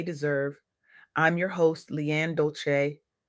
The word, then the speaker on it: Dolce: I'm your host, Leanne Dolce. Pronounced Dol-say. Like sweet softness whispered in French.